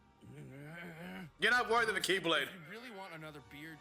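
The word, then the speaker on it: χ-blade: it means the x-blade it's just pronounced like keyblade even though it's just one keyblade ah the series is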